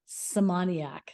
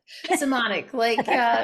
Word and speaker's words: Simonic: Today, I've got a really fun episode with two women, Masey Kaplan and Simonic. No, I totally slaughtered that. Simonic, rhymes with harmonic or demonic, whatever you choose.